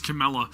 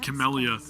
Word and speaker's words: Camella: I said it wrong. It's Camella. I said Camellia.